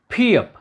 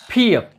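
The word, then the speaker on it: 피읖: फियप ये जब अक्षर के प्रारंभ में आता है तो इसका उच्चारण होगा फ, फ। जब ये शब्द के मध्य में आता है तो इसका उच्चारण होगा ब ब। और जब ये शब्द के अंत में आता है तो इसका उच्चारण होता है प प।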